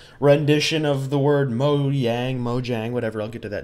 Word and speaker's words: Mojang: on this channel originally I called it Mojang where I'd hard pronounced the J in the company's name and then I kind of switched over to pronouncing it like moyang where the Jay was more like a why uh because it is a Swedish company so I I started